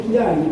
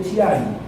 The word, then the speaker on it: Chiari: Se dice Chiari, pero se escribe Chiari.